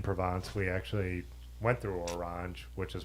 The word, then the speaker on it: Orange: we were in provance we actually went through orang which is pronounced orang the city um but it's funny